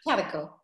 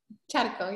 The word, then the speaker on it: Charco: Because I know that it's pronounced a little bit differently. Charco. Charco, yeah.